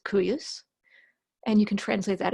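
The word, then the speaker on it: cuius: begins with a C not a Q let's pronounce it qu u s-- KU u s-- curious and you can translate that as whose and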